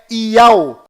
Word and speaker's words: Yahu: Você mesmo pode conferir o que estou lhe mostrando e verá que a pronúncia correta lá em Israel é Yahu.